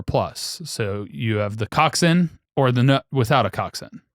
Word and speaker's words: coxswain: But there's the eightman, which is a shell with eight rowers and a cockswain or coxin. That's how it's pronounced.